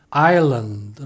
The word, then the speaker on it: island: 로는 아일랜드 라고 하지만 영어 발음은 아율른 더 라고 합니다 이 얘기는 아예 수단 더 라고 하면 잘못이라는 건데요 이 말은 철저히 엄연히 s 가 들어 있지만 발음 하지 않는다는 얘기죠 영어에는 스펠링 에는 들어